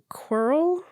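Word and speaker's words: Quirrell: he's like a little parasitic yeah because on qul is that how you say his name yep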